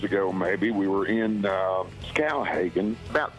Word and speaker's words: Skowhegan: It's actually Skowhegan, but I get it.